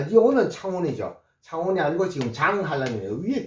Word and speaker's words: 창원: 그렇지만은 우리가 도로 표지판의 지명은 반드시요 제자로 돼 있고 CH가 나오면 분명히 창이라고 하십시오. 그래서 요렇게 창에다가 요거 워에다가 니은하면은 요거 뭡니까? 요거 창원이죠. 창원. 창원은 이렇게 돼 있습니다. 그래서 도로 표지판의 CH는 치스로 읽어 주시고요.